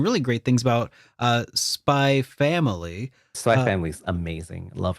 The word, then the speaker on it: Spy x Family: spy X family is it is do you pronounce the X when you say no it's a spy family spy family spy family yeah okay see it's